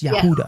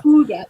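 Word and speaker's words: Yehudah: But Judas's name is Yahudah in the Bible. It's not in the original like Aramaic, Hebrew, whatever. It's Yehuda. Yehuda because his name was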